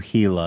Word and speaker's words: Hila: like you're Hila.